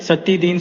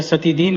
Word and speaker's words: सत्यदीन: पंडित सत्यदीन सुकुल महाराज वर्धवान के यहां जमादार थे। यद्यपि बंगालियों को सत्यन शब्द के उच्चारण में अड़चन थी। वे सत्यन या सतिधीन कहते थे।